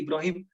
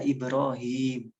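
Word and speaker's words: إبراهيم: wa ala ali Ibrahim kita nggak punya nama nabi Ibrahim teman nama nabi kita adalah Ibrohim minimal bacanya dua Halo Kak itu enggak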